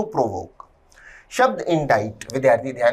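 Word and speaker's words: indict: शब्द इंडाइट, विद्यार्थी ध्यान दें, शब्द इंडाइट में सी साइलेंट होता है, उच्चारण है इंडाइट, थर्ड फॉर्म में इंडाइटेड।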